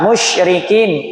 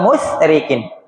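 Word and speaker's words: مشركين: Sya musyrikin. Musyrikin bukan musyrikin atau musrikin tapi besar.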